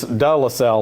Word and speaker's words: De La Salle: But again, I want to thank, for years being from Baton Rouge, I've always pronounced the school D. It's De La Salle, like Coach said.